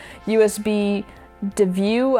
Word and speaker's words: USBDeview: One that's specifically made for USB storage, USB DeView, I think is how you say it. It's USB D, then EVIEW. So let's call it USB DeView.